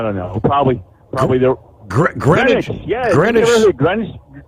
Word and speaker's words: Greenwich: But it's pronounced Greenwich. Yep. Okay. Greenwich. Yep. Just like just like Connecticut. It's Greenwich, Connecticut. It's not Green Witch.